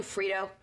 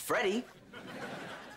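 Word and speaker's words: Freddie: Band-Aid how about you Frito it's pronounced Freddy and all I've got is 70 bucks I've got 30.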